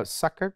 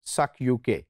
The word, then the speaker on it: sukuk: and i said uh suckak what is a sake and he said actually i thought this is the right pronunciation because before this i thought that this was suck uk s-u-k uk so now